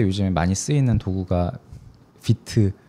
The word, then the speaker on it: Vite: 어 이제 프론트엔드 개발할 때 요즘에 많이 쓰이는 도구가 비트 어 혹은 화이트라고도 잘못 발음되는 아무튼 그 툴이 있는데 그 툴이 이제 플러그인들이 굉장히 많고 그 플러그인 어 생태계가 엄청 크거든요.